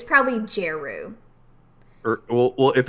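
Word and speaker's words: Djeru: Yeah, okay, so I think the D, yes, the D is probably silent.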